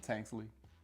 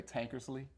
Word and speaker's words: Tanksley: And for some reason, people have a hard time pronouncing Tanksley. I don't know why they want to put an ER. I think it's easier to say Tankersley.